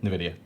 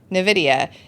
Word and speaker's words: Nvidia: single company how do you say that again Nvidia Nvidia is higher than the entire crypto industry combined